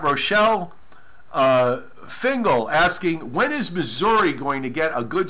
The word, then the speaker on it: Missouri: Okay, so I think that's how you say it. It's Missouri, not Missouri. But welcome aboard.